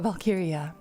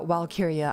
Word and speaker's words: Walkyria: is valkyria uh valkyria is spelled with a w but in germanic pronunciation w's are spelled with v's but i do not mind if you call me lyra walkiria either walkiria or valkyria either one is okay my birthday my birthday